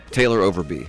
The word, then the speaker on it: Overbey: Taylor Overbey.